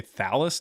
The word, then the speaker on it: Thallus: You're trying to say Thallus, not Thalius, so you can't even pronounce it right, so jot that down.